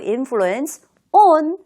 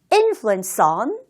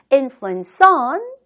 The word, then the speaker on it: influence on: 바로 influence 그리고 전치사 on 이 두 개 단어가 연음이 된다라는 사실. 그래서 따로따로 influence on 이렇게 말하지 마시고요. influence on 하면서 연결하여 연음 처리해 보도록 하세요.